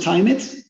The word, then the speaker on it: Tymit: did you come up with a company name timid what does it stand for yeah we pronounce it time it and it comes from the idea of actually